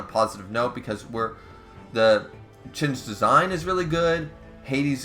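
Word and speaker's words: Qin: against uh uh chin or Quinn it's it's pronounced chin but it's Quinn uh the Emperor of China right so obviously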